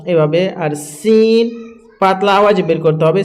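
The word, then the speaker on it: س: Scene হচ্ছে শির শির ও পাতলা আওয়াজে, সিন হচ্ছে শির শির এবং পাতলা আওয়াজে।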